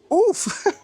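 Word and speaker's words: œuf: let me Google that it's definitely not huo that's from my half Cuban culture egg in French oof oof okay egg oof let's try this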